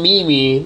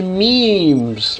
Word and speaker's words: memes: I always call it Mimi, not sure why. Until someone told me, you're supposed to pronounce it as memes.